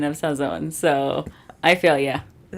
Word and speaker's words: Sazón: So it's s you still pronounce the n.